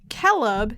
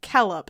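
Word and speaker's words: Celeb: like sit like consonants c has always had the value of k even before e and i keleb c c-e-l-e-b silver should be pronounced as kellop see that's not fun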